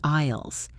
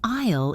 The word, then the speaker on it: aisle: An aisle is the walkway between the shelves. Be careful with the pronunciation of this word. It is spelled with an a and an s, but the s is silent.